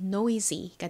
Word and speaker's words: noisy: 끝에 sy는 역시 z 소리 나고요. 그리고 n은 니은 소리 나죠. 이중모음 oi는 oi 소리 나니까 연결하면 noisy가 됩니다. noisy.